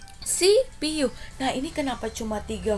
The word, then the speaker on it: CPU: apa ya hurufnya ayobaca cpu0 tapi kita bacanya harus sih Pi yuk apa sipiu Nah ini kenapa cuma